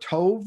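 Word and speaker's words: טוב: of ecclesiastes and it is the hebrew word tov is how it's pronounced tov is how it's spelled and has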